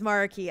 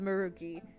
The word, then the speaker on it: Maruki: it's maruki what's up his name is marky i understand but also i don't care it's it's maruki rookie's a cuter pronunciation well it's not like